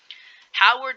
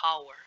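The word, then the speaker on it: Hauer: the normal viable section howard 77 that's what i call anyway it's pronounced the hour 77 pump action shotgun i'm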